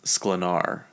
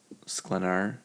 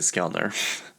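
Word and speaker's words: Sklenar: Anyway, um Sydney Sweeney and her her co-star I actually said his name wrong in a Tik Tok. I didn't even know it. I read it wrong. It's Brandon Slenar. Sclenar. I said Skellar.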